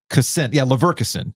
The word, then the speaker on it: Leverkusen: Leverkusen. That's how you pronounce it.